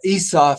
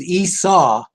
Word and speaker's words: Esau: you don't realize that Esa as they're calling him is Esau in English so the isaf is is pronounced a little differently in uh Israel than it is here so we're talking about